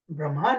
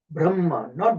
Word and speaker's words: Brahma: Now English Brahman is not the way it is. In Sanskrit it's called Brahma. Brahma not Brahman. Okay. But in English they use the word they pronounce it as Brahman. But actually the word Sanskrit word is Brahma.